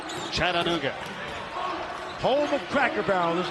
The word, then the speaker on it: Chattanooga: 4 syllables. That's right. Chattanooga.